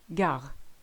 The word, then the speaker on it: gare: Roi, frère, Paris, gare. Now don't sweat too much about this one. In the northern half of France, this is how we pronounce it, gare.